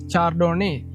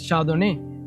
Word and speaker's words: Chardonnay: Like Chardonnay, if you pronounce it correctly according to the letters, it's written in English, it's Chardonnay, but the pronounce is Chardonnay. It's different.